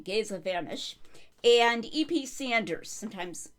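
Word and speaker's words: Géza Vermes: I did some research since my last video to figure out how to correctly pronounce his name, Gaza Vanish, and EP Sanders, sometimes called Ed Sanders.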